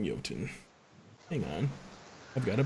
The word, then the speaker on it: Jotun: a little thing called Jotun. And that name might sound weird because it's spelled Jotun, but that's because it's like a Viking game where we say our J's weird in Viking times.